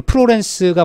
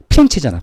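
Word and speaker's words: Firenze: 그 다음에 대표적인게 우리 프로렌스가 발상지 프로렌스를 영어식 발음이고 본토 발음은 뭐죠 피렌체잖아 피렌체 그렇죠 프로렌스 같은 거예요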